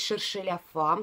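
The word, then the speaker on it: cherchez la femme: Шершеля Фам. Спасибо тем, кто сказал, как правильно читается это название.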